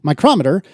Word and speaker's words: micrometer: In spoken English, they are distinguished by pronunciation as the name of the measuring device is stressed on the second syllable, micrometer. Whereas the unit name places the stress on the first syllable, micrometer, but that's why no one says micrometer.